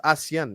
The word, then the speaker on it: ASEAN: This is not pronounced Asian. This is pronounced ASEAN.